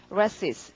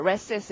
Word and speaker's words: recess: 그래서 발음은 resist. 근데 강세가 앞에 있어서요. resist 이렇게 되는 걸 봐주시고 동의어 적겠습니다.